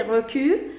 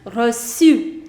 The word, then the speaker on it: reçu: I don't want to say recu. The correct pronunciation is reçu. Reçu, which means a receipt.